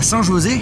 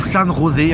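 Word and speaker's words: San José: On se retrouve aujourd'hui dans ma dernière vidéo à Saint-José ou Sanne Rosé, on prononce comme on le souhaite.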